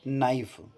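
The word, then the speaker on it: knife: नाइफ consonant में के यहां पर साइलेंट है तो नाइफ हो जाएगा।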